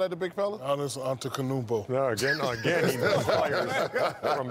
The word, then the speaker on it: Antetokounmpo: Pronounce Giannis's last name. Giannis Antetokounmpo.